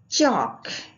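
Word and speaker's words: chalk: चौक, यहाँ भी L silent होगा, सेम रूल फॉलो होगा और इसको हम पढ़ेंगे चॉक a white material used for writing on black board and for drawing.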